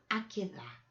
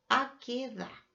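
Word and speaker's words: עקדה: Hay una oración maravillosa con una canción igual de maravillosa que se llama Akedah. Se escribe A-Q-U-E-D-A. Akedah.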